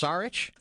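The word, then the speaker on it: Šarić: names of markelle fultz embiid daario is it pronounced saric yes arch and ben simmons the new nickname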